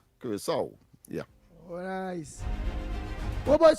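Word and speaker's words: Curaçao: I realized, of course, that the C has an accent, and of course it is pronounced with a S song, Curacao.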